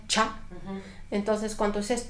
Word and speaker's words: Tscha: se llama ya sale se escribe tscha pero se pronuncia cha entonces Cuánto es chat estás diciendo te ese